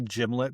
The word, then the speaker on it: gimlet: First of all, I think you say gimlet because you get you came right off gin and then gimlet. So you're used to that soft g.